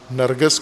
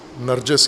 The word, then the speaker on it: نرگس: کر دیتے ہیں عرب، نرگس کو نرجس کہہ دیتے ہیں، جہاں بھی گاف آئے گا وہ جیم پڑھیں گے۔ نرگس و نرجس ایک ہی دونوں لفظ ہیں، صرف اس کے عربی تلفظ اور غیر عربی تلفظ کا۔ پھول ہے ایک، نرگس